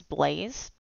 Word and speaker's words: Blaz: Even though his name is Blaze, said like B-L-A-Z-E, but spelled like B-L-A-Z, he goes by Panda.